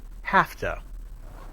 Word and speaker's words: have to: But when we blend the words have and to together, we say have to. The voiced sound v changes to voiceless f.